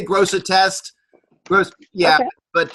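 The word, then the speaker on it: Grosseteste: do you think yeah gross test sometimes the second E is silent but I say gross a test first yeah but it's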